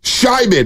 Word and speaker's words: Scheiman: Baylor Scheiman is how you say it. Oh. The R's are silent. Yeah.